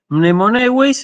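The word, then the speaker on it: μνημονεύεις: Mnemoneueis, entonces tiene dos diptongos, el diptongo eu y el diptongo ei, ¿sí? Y si yo lo tuviera que separar en sílabas, digo mne, sería mne, mo, neu, eis.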